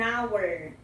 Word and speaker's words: hour: Se o H não é pronunciado, então a letra seguinte é uma vogal.